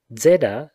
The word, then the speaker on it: zeta: za that is za zeda therefore which is shown by prosody to be a double consonant must certainly be pronounced as that means d with a soft s when in the aeolic